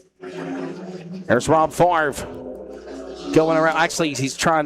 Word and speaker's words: Favre: That is Rob Favre. Rob Favre.